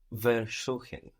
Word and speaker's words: versuchen: It's spelled with a V, but that V is an F. Versuchen. Versuchen. Is this separable? No. No. We have the accent on suchen, showing us that ver stays put.